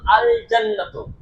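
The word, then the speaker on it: الجنة: আর কিন্তু যখন আল জান্নাত শব্দটি লিখছি তখন দেখতে পাচ্ছি আল জান্নাতু লামটা উচ্চারণ হচ্ছে।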